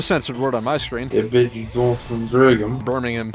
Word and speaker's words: Birmingham: Birmingham. Yeah, that's... I completely mispronounced that. What did you pronounce it as? It's like Brigham or something. Bringham? Brigham. Oh, yes, the city of Brigham. This is London, not Birmingham. Come on.